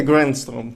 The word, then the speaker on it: Gränström: Olof E agora espero não me enganar a pronunciar o nome. Olof Granström, é assim? Olof Granström. A Grandstrom, exatamente.